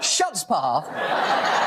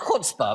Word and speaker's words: chutzpah: them leave oh ok ok first of all shut spa it's actually pronounced good spa but the idea the idea that game is